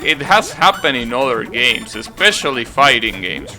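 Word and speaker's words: Goenitz: games i think well it's written as go in it but i'm pretty sure it's pronounced games and that guy is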